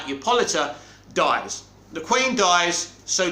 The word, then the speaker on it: Hippolyta: Now, I think it's Justice League 3 where Diana returns to Themyscira and her mother, Hippolyta, that's how you say her name right, Hippolyta, dies.